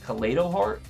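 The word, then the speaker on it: Kaleido-Heart: omni in the gate they then go into collado heart that's how it's pronounced and they shuffle my Eternal Soul Back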